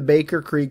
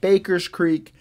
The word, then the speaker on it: Baker Creek: the name of the Baker Creek seed company so my apologies on that my apologies to everyone involved but it is Baker Creek not Baker's Creek their website address is